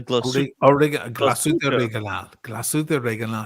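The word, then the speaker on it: Glashütte Original: How do you pronounce original? The Glasuta Reganal.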